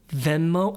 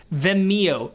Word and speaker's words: Vimeo: And the reason why I wish a company like Vimeo Vimeo, how do you pronounce this? VMO. No, that's Oh my gosh. Vimeo.